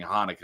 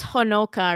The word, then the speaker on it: Honoka: is how it's pronounced my guess it's honoka or something cuz it's h o n o k a honoka honoka probably I know says I